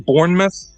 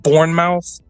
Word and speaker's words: Bournemouth: Uh they're fighting in Bournemouth. And I heard Dana White pronounce it Bornmouth.